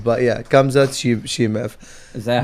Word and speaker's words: Khamzat Chimaev: But yeah, Khamzat Chimaev.